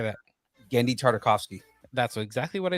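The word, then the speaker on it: Genndy Tartakovsky: Getty Tarkovsky. How do you say that? Gendy Tartakovsky.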